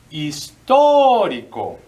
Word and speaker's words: histórico: Y otra palabra que está medio interesante es H muda, I, S, T, O, marca de acento aquí, R, I, C, O. Histórico.